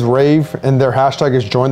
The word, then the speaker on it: RAEV: I'm pronouncing it correctly r-a-e-v I'm assuming is Rave and their hashtag is